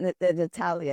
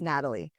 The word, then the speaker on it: Natalie: It's actually Natalie. It's not Natalia, it's Natalie.